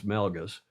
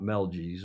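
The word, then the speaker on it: Melges: Yeah, we got to teach the foil how to pronounce Melgus. Not fun to see. Not Mel Gez or Melisgus.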